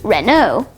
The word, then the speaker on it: Renault: Renault has a silent LT. That's the double silent letter. The letters AU might also be pronounced O at some points, and that also happens here, which is why the company's name is pronounced Renault. Next, we have Mercedes-Benz, a